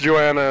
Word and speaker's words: Joanna: whip him yes yes it's Joanna is how it's pronounced Dante Dante must whisper